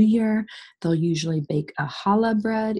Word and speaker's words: challah: They'll usually bake a challah bread, even though there's a C here. The C is silent, so it's a challah bread.